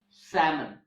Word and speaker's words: salmon: examples like almond and salmon okay so these are the words in which the letter L is silent the next silent letter